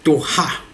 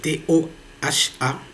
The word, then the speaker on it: Toha: Maintenant, il y a une nouvelle société qu'on appelle Toha. Je pense que c'est comme ça qu'il faut le prononcer. C'est T-O-H-A, la société Toha.